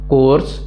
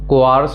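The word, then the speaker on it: coarse: अगला है कोर्स, इसको कोआर्स मत पढ़िएगा, इट्स कोर्स।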